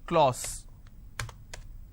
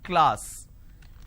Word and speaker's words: class: people pronounce this as clause it's not Clause it's class so I have k Le ah so class this is how it's pronounced